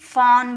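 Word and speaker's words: fawn: Crawl okay F ए डब्ल्यू एन इसे फॉन बोलेंगे।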